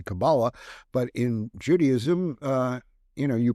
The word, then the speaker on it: Kabbalah: And while tarot's the Kabbalah, and I pronounce them differently because Hermetic Kabbalah is very different, and that's what they say, Kabbalah. But in Judaism, you pronounce it Kabbalah. That's the Hebrew pronunciation.